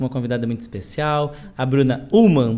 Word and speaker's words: Bruna Ullmann: Hoje estamos com uma convidada muito especial, a Bruna Ullmann. Pronunciei correto, Bruna?